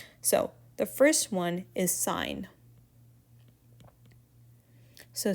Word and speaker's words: sine: for right triangles so the first one is sign so s um the shorthand notation is s s i n it's not sin we pronounce it as s